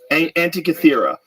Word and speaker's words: Antikythera: Antikythera.